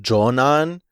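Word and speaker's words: 女難: Like, it's pronounced Jonan, and it's just like trouble with women, either being like bad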